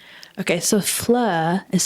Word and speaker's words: Fleur: That's right, Flur.